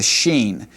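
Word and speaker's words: שין: letter, then it's a sheen. But that's what we're going to be calling this letter, the sheen. More often than not, this letter will have an sh sound. Sheen.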